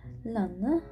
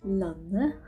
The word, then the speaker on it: landet: Lanne. See, you don't pronounce the D and the letter T, so it just becomes Lanne.